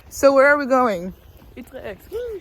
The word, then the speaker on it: Utrecht: Utrecht. Utrecht.